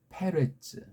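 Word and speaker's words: פֶּרֶץ: 구약은 아까 말한 대로 페레츠라고 발음할 수 있어요. 파레스가 페레츠 이거잖아요.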